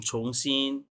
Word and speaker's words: 重新: अच्छा, इस अच्छा छोंग वर्ड के ऊपर हमें केयरफुल रहना पड़ेगा। इसकी दो प्रोनाउंसिएशंस हैं। एक होता है चोंग, रिमेंबर चोंग का चोंग चोंग है ना ये। जी सो इसको चोंग भी पढ़ा जाता है और छोंग भी पढ़ा जाता है। सो हमें देखना पड़ेगा, इसे याद रखना पड़ेगा कहाँ पे इसकी क्या प्रोनाउंसिएशन है।